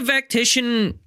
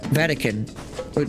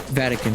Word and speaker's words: Vatican: Vatican. I mispronounced it. Vatican, not Vactician.